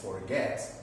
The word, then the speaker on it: forget: In this case, forget is a verb of 2 syllables. Forget. Okay? To accomplish this rule is necessary the pronunciation of the verb. Okay? Is in the second syllable, or sorry, in this case, the last syllable, la última sílaba.